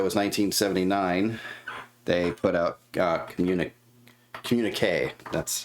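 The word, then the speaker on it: Communiqué: The next year, so that was 1979, they put out Communique. That's how you pronounce it, Communique.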